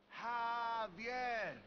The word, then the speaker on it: Javier: It's pronounced like an H. Javier.